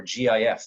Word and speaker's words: GIF: therefore I believe that's how it should be pronounced, GIF.